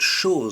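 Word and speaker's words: chose: On that same line, we have the word shor a thing. Sh. Again, you hear a z.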